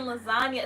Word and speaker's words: lasagna: I'm like, it's real G's move in silence like lasagna, because like the G in lasagna is silent.